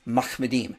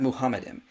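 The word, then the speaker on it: מחמדים: Okay, once again, it's Mahmedim, not Muhammadim.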